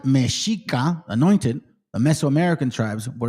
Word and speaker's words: Mexica: This was a time when the Mexica, pronounced Mexica, anointed, the Mesoamerican tribes were establishing their source of origin, yada, yada, yada.